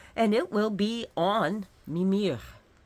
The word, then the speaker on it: Mimir: it will be on mimir M is how he's pronounced emphasis on the first syllable and the howow mimir